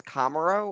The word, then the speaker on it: Komarow: your last name no so it's it's camaro or so i think camaro okay well if you